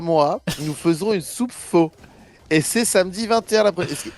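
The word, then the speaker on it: phở: Comment ça se prononce? Faux, ouais, avec un, PHO, ouais, là.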